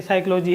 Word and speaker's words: psychology: शब्द तो दोस्तों जिससे शब्द में पहला अक्षर साइलेंट हो जाता है जैसे साइकोलॉजी है तो इसका अतिरिक्त व्हाट्सएप पर साइकोलॉजी नहीं